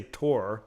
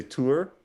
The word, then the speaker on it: tour: i say it right i don't say tor like an idiot say tour tour tour yeah i